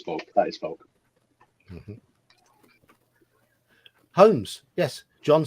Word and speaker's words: Holmes: In the surname Holmes, for us the L is silent.